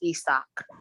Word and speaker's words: Isaac: It's actually pronounced Isak.